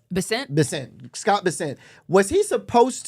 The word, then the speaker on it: Bessent: Bessent.